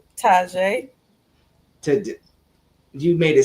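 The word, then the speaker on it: Tjay: Taj to You made it sound better. So, we gonna go with your version. Taj.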